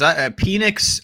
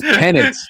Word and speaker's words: Penix: Okay, the Falcons, I don't know, because Penix, I don't want to judge him. Don't ever say his name like that ever again. What? Penix? It's Penix.